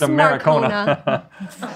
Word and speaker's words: Marcona: We got some Maracona Mons up careful. There. Be careful. It's pronounced Maracona.